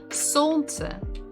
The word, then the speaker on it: солнце: So the stress is on the first syllable. Солнце.